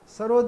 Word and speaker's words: सरोद: सरोद ये Persian word है, जैसे सितार भी पर्शियन वर्ड है। सहतार यानी तीन तार का बजा, और ये सरूद इसका उच्चारण है, सरूद डबल ओ के साथ, जिसका मतलब है नगमा, तरन्नुम, मौसिकी।